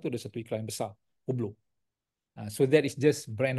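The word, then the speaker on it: Hublot: iklan kat KL ni hublo kan ada satu jam tu brand dia hublo HB lot silent t bukan hubblot hubblo hubblo ni jam yang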